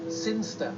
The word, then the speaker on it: Sinster: in the boring town of singer sester sinster what it's pronounced sinster how do you know my cousin's from sinster never mind keep going